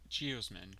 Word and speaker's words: geosmin: Geosmin, pronounced geosmin, is an irregular sesquiterpene, which means it takes three isoprene to form it.